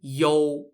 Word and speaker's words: You: known as the king yol of troll yo is spelt y-o-u and it's kind of pronounced similar to yo as in yo yo what's up mahomeiji king